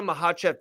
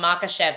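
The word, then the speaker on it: Makhachev: would you make first you said it wrong you meant to say Islam makev defending his title against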